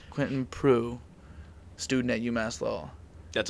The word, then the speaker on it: Proulx: Proulx. Very Proulx. French. Proulx. French. You're very French. Proulx. Quentin Proulx. Quentin Proulx. You only need about 4 letters of my last name to pronounce it correctly.